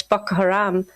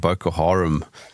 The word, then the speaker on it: Boko Haram: Um I said Boko Haram uh but I prefer Boko Boko Haram because Haram is more of like a a brothel.